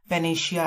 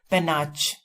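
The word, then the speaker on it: panache: अब इसकी प्रोनाउंसिएशन पेनाश है, लेकिन इसको अगर हम देखते हैं तो हमारे दिमाग में एकदम से आता है पेनाच, पेनाच आ रहा है।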